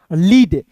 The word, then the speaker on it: lead: दोस्तों ल होता है, और EA है तो इसका उच्चारण यहाँ पे ई के रूप में करेंगे ली, और डी का दोस्तों होता है ड, लीड, LEAD को पढ़ेंगे दोस्तों लीड हो जाएगा।